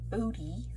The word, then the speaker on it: Bode: this page uh booty plot it is called booty body plot that's how you pronounce it uh it's named for uh hendrick